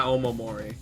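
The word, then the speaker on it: お守り: windshield sized like it's Oh, pronounced Omamori? Yeah, Omamori. It's like those Okay.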